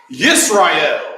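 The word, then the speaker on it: ישראל: Of course, they pronounce that Yisrael. That's how they say that.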